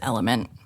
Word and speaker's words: LMNT: I think it's just Element. I know, but I like Elementary. All right, Elementary. The product is called Element, but the it's spelled LMNT.